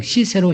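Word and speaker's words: Cicero: 이었을 주시 우리가 부터 시세로 시세로 그럼 이렇게 오르 시키세요 라틴어 발음 을 기체로 구요 영어 발음은 시세로 입니다 그럼 이번 시세로 이렇게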